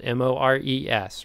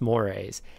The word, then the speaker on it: mores: out i want to point out that word it's spelled m-o-r-e-s right that's pronounced mores how i don't know because if you put